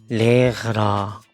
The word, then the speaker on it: Lehrer: 날에 선생님에 대해서 배워보자 레아라. 제가 사실이 단어를 배우는 거에 대해서 상당히 자신감이 없습니다. 왜냐면 이런 발음이 되게 어려운 발음이에요. 레러 이렇게 써 있지만 레라 뭐 아무튼 발음이 어렵습니다.